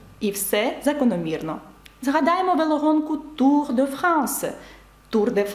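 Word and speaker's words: Yves: марку і А зараз подивіться ще раз як пишеться ім'я Ів і бачите с наприкінці і ви знаєте що воно ніколи не читається марка косметики lнком е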